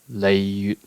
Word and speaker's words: Liyue: Liyue. This is one of those cases where the Japanese directly approximated the modern standard Mandarin pronunciation, the Japanese being Liyue, and then the Mandarin is Liyue.